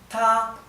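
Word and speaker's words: 他: que no varía, es ta, ¿sí? Y no es ta, no es ta, no, es ta, ¿sí? El tono tiene que estar alto, ta, y no varía.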